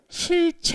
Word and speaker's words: cit: 하지만 올바른 발음 은 'Chit' 입니다 . 전표 . 발음 이 좀 어색한가 요 ? 그것 은 칫 입니다 .